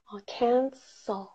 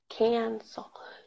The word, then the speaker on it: cancel: 뭔가 취소하다 이럴 때 cancel 이렇게 써 하시면 돼요. cancel. 중요한 거는 앞에 소리가 둘다 black 발음이에요. Okay? Very important. can이 아니라 can. 이거 많이 발리세요.